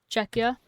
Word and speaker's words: Czechia: So how do I pronounce the simplified version of the name? Is that Czech? Or is that something else again? Czechia? Okay.